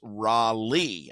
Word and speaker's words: Raleigh: And being native growing up here, it's all I mean, it's Raleigh. I mean, if you if you just split the two syllables, R A L I G L E I G H.